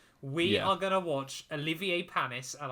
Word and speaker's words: Olivier Panis: are going to watch olivier panis and i did make sure to say his name correctly um not richard hammond's version not richard hammond's version no